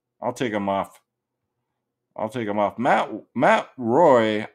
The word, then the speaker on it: Roy: Matt Roy. I pronounce it Matt Waugh because that's how Waugh pronounced it back in the 90s. I think it's Waugh. People call him Matt Roy.